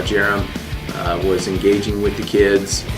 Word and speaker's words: Jarom: Alright you guys, so my name is Jarom. It's pronounced like Jeremy, but with no Y.